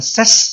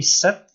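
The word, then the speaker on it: 셋: 3 set, di bawahnya S ya, bukan ses tapi set.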